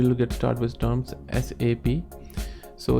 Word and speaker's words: SAP: based on Germany and we would need to pronounce s ap not SAP so if you if you're calling